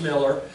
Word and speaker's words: Mueller: my my my father's Father Peter Miller is pronounced Miller um he came over he he was he